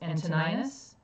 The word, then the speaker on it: Antoninus: But Hadrian was the emperor at the time, and he didn't have an heir, so he chose Antoninus. And yes, I looked up how to pronounce that, Antoninus.